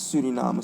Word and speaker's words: Suriname: Um what is what makes Surinam so so unique?